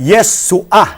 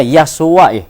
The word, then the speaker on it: Yeshua: meron pong furtive pata sa ilalim. Opo. Guhit yung Opo. ayen. Opo. Kaya yung pong ayen doon ay hindi ho pinopronounce. Ang tawag ho doon ay guttural or silent letter. Opo. Kaya yung furtive pata, kaya kaya Opo. Yeshua. Hindi ho, isa kanya, Yahshua Yahshua. Kaya katunog nung miswa eh.